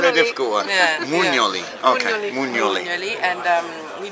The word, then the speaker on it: Mugnoli: Mugnoli.